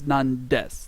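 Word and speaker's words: なんです: actually two words nandes it's the reason why the death is there is because normally that con pronounced Nani but with the Des there it's nandes nandes what is it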